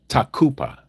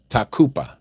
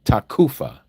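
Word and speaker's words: תקופה: In the Hebrew word, it is takupa. Takupa. Some people pronounce it takufa with a f like in Frank, but it's actually a P sound.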